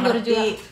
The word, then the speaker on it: Bourjois: Karanganyar borj gitu ya Kak bacanya berjuang berjuang dibaca borjuis tulisannya bourjois merek Apakah bulu matanya